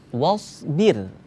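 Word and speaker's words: وَاصْبِرْ: Wasbir. Nah, ya, cara bacanya huruf sha ketika dia diwakafkan maka harus kita tunjukkan kalau itu huruf sha yang mati, bukan huruf sa.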